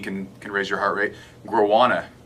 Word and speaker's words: Guarana: Guarana, I believe this is how you say it. Guarana. Okay. It's basically an herbal caffeine. Guarana It's is bat crap. not guado. Come on now.